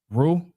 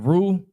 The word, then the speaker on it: Reu: And Peleg lived 30 years, and begat Reu, or Reu. How do you say that? R-E-U? Rule. Reu.